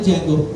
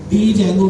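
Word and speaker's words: Django: बाद फ्रेमवर्क आता है जंगो डी जंगो के नाम से होता है जिसका डी साइलेंट होता है जंगो जो है वो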